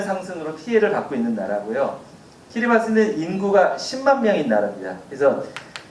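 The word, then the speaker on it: Kiribati: 키리바스, 보통 우리나라에 다 키리바시라고 되어 있거든요. 영어 스펠링이 이렇게 되어 있는데 현지 사람들 말에 의하면 TI가 발음이 스라고 합니다. 그래서 진짜로 정확히 발음을 하면 키리바스가 맞고요.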